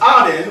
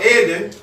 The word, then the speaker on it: Eden: Eden, pronounced Aden or Eden, means beautiful or pleasure, delightful.